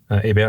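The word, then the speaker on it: Hébert: and that court is sympathetic to his arguments and and to his overall sort of program so morat gets acquitted one month later another left-wing journalist named a Ab is spelled h e b t so like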